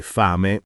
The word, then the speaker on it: fame: Si sente bene il suono lungo e fame si dice con la a aperta, quasi fai me, non stretta.